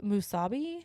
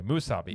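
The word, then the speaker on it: musubi: what did you get what's how do you pronounce this thing it's called musabi okay musabi it's basically a sushi spam it's kind of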